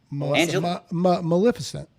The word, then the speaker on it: Maleficent: Melissa meant how do you say it Graham Maleficent Maleficent Maleficent thator Pam prayers for my sister-in-law